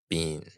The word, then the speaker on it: Biehn: Biehn.